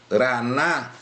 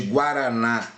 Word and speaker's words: Guaraná: Quando eu pronuncio Guaíra, ou quando eu pronuncio Guaraná, o que acontece aqui? Olha só, Guá, né, de Guaraná ou de Guaíra, olha lá, Guá. Esse U, eu pronuncio o som do U.